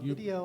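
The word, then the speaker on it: Vidyo: pronounced it vi vi video with a Y he says it's pronounced video It's pronounced the same but it just it just looks cooler I'm like yeah but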